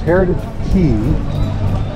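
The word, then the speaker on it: Heritage Quay: So that's what they call this, Heritage Key. You know, it's not Quay, it's not K, it's pronounced Key.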